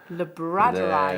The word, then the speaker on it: labradorite: Labradorite.